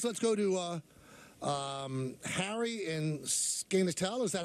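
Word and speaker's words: Skaneateles: Let's go to Harry in Skenetal. Is that how we pronounce that? I don't know. Hey, Harry. Yeah. Yeah, it's in Skinny Atlas. Skinny New Atlas, York.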